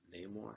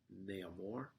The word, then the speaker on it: Namor: So it goes to Namor. So Namor, you can say, or like Namor, whatever you want to pronounce it.